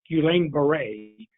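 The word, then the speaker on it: Guillain-Barré: history of a specific syndrome referred to as guillain-barre that's spelled g-u-i-l-l-a-i-n-d-a-r-r-e the eeoc has also advised employers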